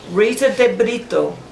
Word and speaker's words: Rita de Brito: Rita de Brito. Good pronunciation.